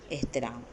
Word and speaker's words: احترام: اس طرح نظر آئے، اور تلفظ کے لیے یہاں زیر ہے، الف کے نیچے زیر ہے، تو اس کی ادائیگی کے وقت اس بات کا آپ خیال رکھیں۔ روزمرہ کی مثالوں کے